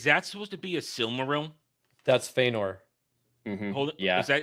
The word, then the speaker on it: Silmaril: Cimarils. Silmaril.